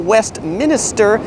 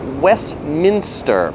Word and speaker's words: Westminster: And then the big famous church, that's not Westminster, it's Westminster.